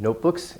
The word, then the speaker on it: notebook: of potential little problems compound main stress on the first part notebook it's a long vowel it's the O not look not that wouldn't really make sense notebook notebook notebook the main part has more stress and it's a long